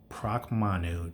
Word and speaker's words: Pracmanu: on it um but actuality this is the proc manu that's spelled p r a c m a n